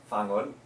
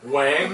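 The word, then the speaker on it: Whang-od: It's actually spelled W-H-A-N-G. Wang. So it sounds like it says Wang On, Wang. but Wang On. it's Fangon. But she's up in the mountains.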